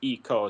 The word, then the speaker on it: Ico: It's like he does pronounce it Eco because it's based off the Japanese number one. And number one in Japanese is ichi, and so it's Eco, so it's one thing.